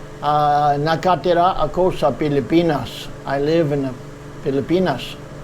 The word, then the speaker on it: Pilipinas: in English, we say the Philippines, and it's spelled with PH, one L, and two P's, Philippines. In the Filipino language, it's called Pilipinas. So in Filipino language, we say, nakatira ako sa Pilipinas.